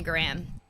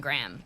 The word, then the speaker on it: Graham: Where we just say Graham like a gram of... Yeah, like G-R-A-M, Yeah, like there's not all the extra sound.